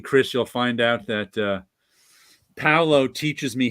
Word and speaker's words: Paulo: It's Paulo. Yeah, it's like in Italian. It's Paulo. It's like in Italian, but with an AU instead of an AO.